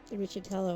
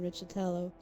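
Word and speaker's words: Riccitiello: A lot of people say his name differently, but Riccitello, I think, is the correct way. Richie, because it's a weird thing. It's Riccitello. John Riccitello.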